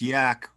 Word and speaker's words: Yahk: It's pronounced Yahk.